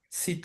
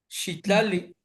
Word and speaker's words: Citlali: Y la estrella es Citlali, Citlali.